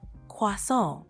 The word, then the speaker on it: croissant: Try emphasizing the nasal sound at the end a bit more, like croissant.